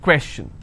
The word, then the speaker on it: question: on may information if i have the word question how many syllables two quests chin all right and i will stress here question clear so the rule